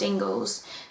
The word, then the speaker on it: English: So mine was Ingles, even though it's spelled English. And because everyone knew my name was pronounced Ingles, they found out and they were like, oh my god, Jingles?